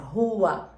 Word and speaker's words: Huath: Hua, Hua. É a pronúncia, Hua.